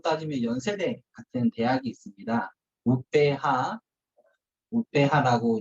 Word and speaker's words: UPH: 우페하라고 이제 인도네시아 발음이고요.